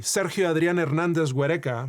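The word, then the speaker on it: Sergio Adrián Hernández Güereca: We see this in the case of Hernandez Vimesa where a 15-year-old Mexican boy, Seri Adriana Hernandez Guerka, that's how you pronounce his name in his native Spanish, was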